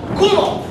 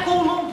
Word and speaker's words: Coulomb: Mais quando eu estiver falando de I menos, é 1,6 vezes 10 na menos 19 Coulomb. Esse Czinho, ó, é para homenagear um grande gênio da eletrostática. Coulomb. Não é Coulomb, professor.